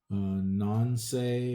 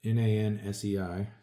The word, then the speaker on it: Nansei: Nancy, or not Nancy, basically, but Nansei.